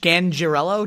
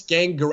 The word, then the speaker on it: Scangarello: I think it's pronounced Rich Scangarello. Did I say that right? Scangarello? I think it's Scangarello. I think it's a hard G, but either way, Scangarello.